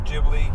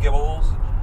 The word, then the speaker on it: Ghibli: I got three studio ghibli Gibble's urban films you said it right first Ghibli not for $9.99 they're